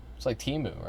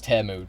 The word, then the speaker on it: Temu: Also, why the fuck you pronouncing Timu like Timu? Because that's how you say it. It's like Timu, right? Kind of like the website. Don't tell me it's Temu. Don't tell me that.